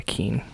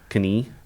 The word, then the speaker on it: Keene: it's probably pretty small is it even pronounced Keen I think so e-e-n-e I would say that's Keen I think so I think it's something k-e-n-e-k-e-e-n-e oh yeah Keen it's not Kenny no no I have